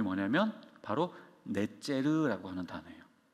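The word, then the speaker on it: נצר: 가지라고 하는 이 단어의 원어 발음이 뭐냐면 바로 넷제르라고 하는 단어예요.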